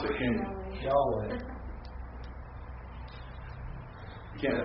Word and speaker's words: Yahweh: If it had its proper vowel points, most scholars assume that it would be pronounced Yahweh.